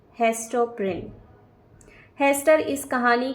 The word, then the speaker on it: Prynne: Her name rhymes with sin. She is. Hester Prynne, Pearl, both are correct या फिर both are wrong? और इस question का correct answer है option number A, Hester प्रिन।